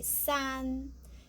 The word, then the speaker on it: san: Just like a C, we need this part. And the san, we need the ran. But the first tongue, so we just say san.